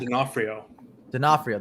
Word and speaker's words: D'Onofrio: Vincent D'Onofrio. His Kingpin is coming back. D'Onofrio. There you go. There you go. Say, I told you I butchered his name.